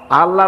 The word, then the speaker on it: আল্লাহ: আল্লাহর নাম কি আল্লাহ আল্লাহ না কিন্তু মুখটা গোল করে উচ্চারণ করতে হবে সুন্দর করে আল্লাহ বলেন সবাই আল্লাহ দিল